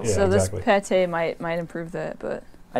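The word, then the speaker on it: pâté: It's spelled P-A-T-E, pate.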